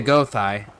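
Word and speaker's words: Gothi: And we would get a Gothai or a Godai depending on which variation of the translation you want to use, because there's G-O-T-H-I and G-O-D-I. Both are actually the same exact thing, just pronounced differently and spelled differently.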